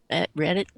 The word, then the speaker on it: Reddit: watched the video and he sent it to Reddit is that how you pronounce it yep Reddit uh and it was on their front page